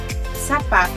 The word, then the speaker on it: sapato: However, if the letter O comes at the end of a word, and if it doesn't have an accent mark above it, letter O sounds like an U. Sapato, correto.